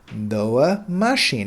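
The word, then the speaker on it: mașini: say no uh machine noah machine now you note that i on the end is is actually silent it's it's it's not pronounced and that's pretty common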